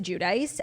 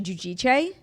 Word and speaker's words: Giudice: Yeah, I mean, forever it was Teresa Giudice. And then like years and years later, it came out that like we were all saying it wrong. It's actually Giudice.